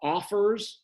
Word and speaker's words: OFFRS: One of them is called Smart Zip, and the other one is called Offers. It's spelled OFFRS, like the word offers without the E in it.